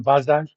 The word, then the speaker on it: Basel: meetings in a Swiss city called Basel, or if you pronounce it in its German, Basel.